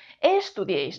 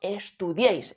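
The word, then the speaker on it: estudiáis: de voz está aquí no decimos estudiis ni estudiis decimos estudiis el golpe de voz está aquí Dónde pongo la tilde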